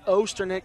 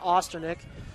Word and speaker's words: Osterneck: got the Twitter correction it's osterneck not Austin ik so we appreciate that